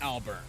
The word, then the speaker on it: Albarn: Despite their name, Death Academy wasn't exactly a fan, particularly their star student, Maka Alburn. Don't worry, she and Crona I thought it ended up pronounced Albarn.